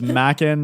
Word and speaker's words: Mackin: So it's Mackin. It's like Mac and Ken. It's like those names shoved together.